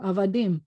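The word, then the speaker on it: עבדים: Berta laugh, is that if you see this, it sounds like ah, and this is a kind of silent letter. So it's ah, and this is a vet with a void in the middle, va, and then you have the dingle dangle doohickey, dim, avadim, and it means slaves or servants.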